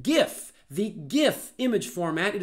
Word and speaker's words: GIF: of interest but anyway it turns out that the image format is pronounced GIF GIF like the word gift and there are certainly